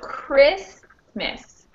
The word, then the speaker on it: Christmas: to decide which one so first off how many syllables is christmas it's in the first row yes which means what most choose syllable nouns are stressed on the first syllable yep so which syllable or specifically which vowel will have the stress here uh vowel y i i i yes okay so chris miss we have this sound with the most stress because it's a two-syllable